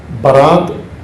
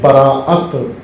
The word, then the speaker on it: براعت: شب براعت، لیلۃ البراعت، برات یہ اس کا عام تلفظ ہو گیا ہے، رائج برات، اصل میں ہے براعت، حمزہ ہے براعت، تبرہ سے زیادہ بہتر